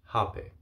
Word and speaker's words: Hapé: now which is called hape or rape so have is spelled h a p e with an accent on the e or rap a r a p e with an accent on the e it varies uh whether you are in brazil or in other parts of south america such as peru where you would differentiate the two and that's just due